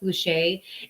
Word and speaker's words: Boucher: It's from Boucher or Boucher, Boucher, pronounced Boucher.